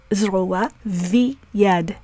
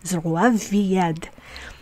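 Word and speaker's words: זרוע ויד: So the rule says that V may be the pronunciation when it is attached to a word beginning with a y sound. So here the rule applies. Zroa v'yad.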